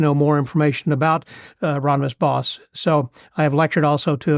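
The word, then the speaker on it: Hieronymus Bosch: Anyhow, and then bringing that up to date through Hieronymus Bos, and the correct way of pronouncing that is Boss, like be a boss. So rather than Bosch, even though it looks like that.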